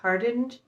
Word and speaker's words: Hardinge: The second book I got for review is Unraveler by Frances Hardinge. That's how you say it. I always say her last name wrong, but this doesn't come out until January 10th of 2023.